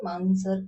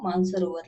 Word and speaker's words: मानसरोवर: flow flow flow में मैंने गलती से मानसर लेक प्रोनाउंस कर दिया था बट वो मानसरोवर लेक है ओके तो चलो इस